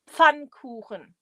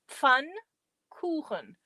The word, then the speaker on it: Pfannkuchen: It's pronounced Pfannkuchen. Pfannkuchen.